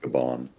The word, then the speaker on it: Gabon: pronounced Gabon.